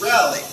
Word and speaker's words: relic: So in this word, it's the first syllable, but it doesn't always have to be. In this word, it's the first syllable. So the emphasis goes on rel. So it's relic. Relic. Now it could have been, if the emphasis was on the end, on the second syllable, it could have been relic. Relic. Notice the difference. Relic. Relic. Or relic. This one is relic.